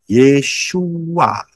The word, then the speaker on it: Yeshua: pernah bisa saudara Yin W Ayin bacanya yesua jadi betul nama Yesus